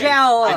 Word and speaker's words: Jala: Jala. It's Jala. It is For- he was in the old pronounced podcast.